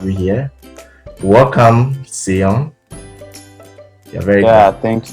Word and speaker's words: Seun: Let's start from the pronunciation of my name. Uh, It's pronounced Seun. So the full Sean. pronunciation, yes, Sean, is awesome.